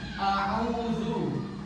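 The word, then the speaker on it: أعوذ: A'udzu. Au. Nah, ini ainnya itu berharokat dhammah bertemu dengan waw. Jadi dibaca matobi'i. A'udzu. Jadi bacanya 1 ayu dan a'udzu. Oke, coba praktek ya semuanya ya.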